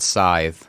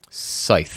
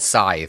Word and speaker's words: Scythe: this game was called scythe long ago or as i hear it pronounced scythe no wrong if there was no e at the end maybe you could be